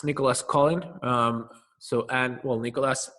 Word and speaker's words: Colin: French investor called well the sort of English pronunciation is Nicholas Cen um but he saying it's Nicholas Colin um so and well Nicholas c o l